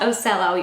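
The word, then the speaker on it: O-Cel-O: I looked it up it is pronounced osell even though it's spelled like o c e l o and they actually describe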